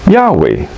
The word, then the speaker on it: Yahweh: For example, biblical scholars agree that the name of the God of the Bible is yieldah in Hebrew, commonly pronounced in English in other languages as Yahweh.